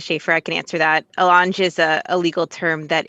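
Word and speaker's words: allonge: phrase is enter into i'm assuming it's it's pronounced alange a-l-l-o-n-g-e yes board member gonzales this is marissa schaefer i can answer that elange is a legal term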